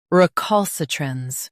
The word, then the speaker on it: recalcitrance: Recalcitrance. Both US and UK have the same pronunciation of this word. Stress, cul. Keep s soft and end with truns clearly.